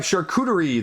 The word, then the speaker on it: Charcuterie: Next up, we have Charcuterie, the board game. Yes, I pronounced it right for once.